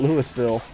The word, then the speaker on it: Louisville: pronounces it differently like if you were to go to Kentucky and you go to Louisville Kentucky they'll tell you that's how you pronounce it but if you never been to Kentucky you might know it as Louisville some people even call it Lewisville I don't know about